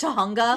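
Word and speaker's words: Tujunga: jokes like Zootopia the it's pronounced Tahunga.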